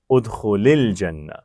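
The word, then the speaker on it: ادخل الجنة: ساکن اکٹھے ہو گئے تو پہلے کو زیر دیں گے، ادخل الجنہ. ٹھیک ہے، ادخل الجنہ. تو یہ ہمیشہ آپ کسی بھی یعنی اس کا تعلق امر سے نہیں ہے، اس کا یہ عمومی قاعدہ ہے. کوئی بھی ایسا لفظ جہاں دو ساکن اکٹھے ہو جائیں تو وہاں پہلے ساکن کو آگے ملانے کے لیے ہم زیر دے دیتے ہیں.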